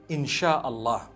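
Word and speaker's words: Insya Allah: They pronounce the S-Y the way we pronounce S-H. So they can write it how they want, for as long as when people read it, they read it Insha'Allah.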